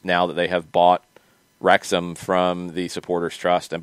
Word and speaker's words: Wrexham: now people are getting really wild with different pronunciations prius and prius yeah um ricky we have not talked about our new rexam uh or wrexham sorry that's another one uh overlords yet today